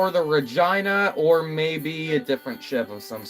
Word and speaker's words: Regina: And the city's pronounced Regina. I thought it was just named after the city.